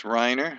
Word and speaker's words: Rainer: me my name is reiner spelt rainer but pronounced reiner my company is canada